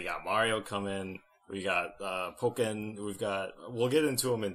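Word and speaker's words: Pokkén: I've been calling it Pokken, like Tekken. Well, to me, Tekken. It's Pocket Monsters. So I would say Pock first instead of Poke, if that makes sense.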